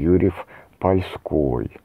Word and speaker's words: Юрьев-Польский: Отсюда и второе пояснение к имени князя, названию города Юрьев-Польский в полях, или иногда делают ударение Юрьев-Польской.